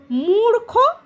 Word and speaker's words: মূর্খ: রকম উচ্চারণে দেখো মূর্খ মূর্খ যখন আমি উচ্চারণ করছি রটা খ এর আগে উচ্চারণ হচ্ছে মূর্খ যেহেতু রটা খ এর আগে উচ্চারণ হচ্ছে তার জন্য খ এর মাথাতে চিহ্নটা বসছে। আচ্ছা র যোগ্য সমান সমান